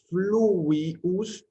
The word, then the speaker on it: fluvius: La letra B corta o V minúscula la pronunciaremos como la W inglesa. La palabra fluvius se pronuncia entonces de esa manera.